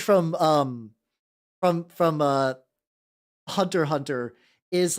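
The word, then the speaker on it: Hunter × Hunter: to pronounce Hunter Hunter I thought it was like Hunter x Hunter cuz nobody told me you weren't supposed to pronounce that and then I do know some people like Oh you mean you mean hunter cross Hunter and I'm like that also sounds like it could be right I don't see I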